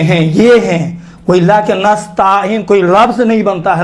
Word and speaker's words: نستعین: ایاک نعبد، دیکھیں نستعین، نستعین کیا پڑھتے ہیں؟ ایاک نستعین، دیکھیں تا کے اوپر الف نہیں ہے، یہ چھوٹے حرکات میں سے ہے، زبر بڑا حرکات نہیں ہے کہ نستعین تلفظ کریں۔ اکثر و بیشتر تلفظ